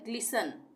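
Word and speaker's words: glisten: तो एक साथ है इसको भी हम टी साइलेंट कर देंगे या टी का उच्चारण नहीं करेंगे य हम हम बोलेंगे इसको ग्लिसन ग्सन का मतलब होता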